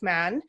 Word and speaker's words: Mahon: Man, it's like mayonnaise. Oh, it's like man.